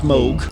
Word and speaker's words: Moog: with Moog uh the Moog the Moog it's pronounced Moog and gave extensive technical advice on what became